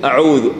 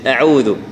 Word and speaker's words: أعوذ: لا جعلوا أصابعهم، مثلا أعوذ، كثير من الناس يقول أعوذ أعوذ، ولا هي أعوذ أعوذ، يعني الهمزة تنطق مرققة، لأنها كما قلنا إيش